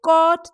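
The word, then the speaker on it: caught: In cot, the silent alphabets are G and H.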